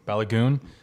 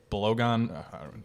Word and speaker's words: Balogun: Pepe, Pifak, and how do you pronounce his name? Balogun.